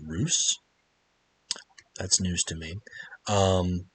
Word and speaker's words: Russ: try to attack you russ is another ruse i i just found out the other day when i was playing battlefleet gap 2 armada that it's pronounced ruse that's news to me